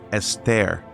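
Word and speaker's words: אסתר: Greek all about a Jewish Queen named Esther pronounced Ester in Hebrew who lived in the Persian Court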